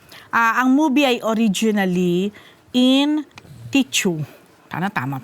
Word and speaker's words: Teochew: Kasi, ang movie ay originally in Teochew. Tama pronounce.